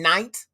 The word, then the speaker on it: knight: A fucking knight. Like the Golden Knights, K-N-I. Get rid of the K. You're not pronouncing the bitch.